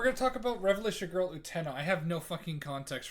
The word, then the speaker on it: Utena: Revolutionary Girl Utena, I know it's pronounced Utena, but I don't care, is an anime from the 90s that is considered mandatory watching for every sapphic weeb over 30.